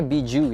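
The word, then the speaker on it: Bijou: ini jelek Agli Bijuu tulisannya bijak tapi cara bacanya Bijuu ya kayak hachibi sama Kyuubi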